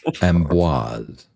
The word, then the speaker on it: Amboise: My word, what did I say about the letter R? And you keep repeating it in every mispronunciation you make. Amboise. A-M-B-O-I-S-E.